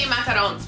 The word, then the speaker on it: macarons: Is that how you pronounce it? Macarons? Macaroons, I think. I feel like macaroon is a coconut cookie. True or false? Let us know in the comments how you pronounce. I'm gonna say macarons because I feel like that's how the French say it and I wanna be cool like the French.